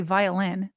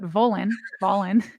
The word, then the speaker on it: Volin: And then Ben, I want to say violin, but Volin.